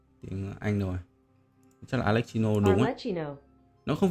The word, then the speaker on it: Arlecchino: Mình hay gọi là Alexino nhưng mà không rõ là cái phát âm chính xác của nó là sẽ là như nào. Thử xem nhá. Viết thế nào ta? Alexino. À, có chữ R. Arlecchino. Cái gì?